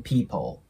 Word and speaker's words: people: invited 10 people でその後の people これもねえ L の部分ダーク L なんですねなので皆さんねえ日本語でも people て言ったりしますよねなのでここは people にならないように注意してください最後の this time